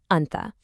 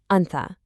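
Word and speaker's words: أنتَ: If you're talking to a man, you say anta. Hear that ah sound at the end? Anta.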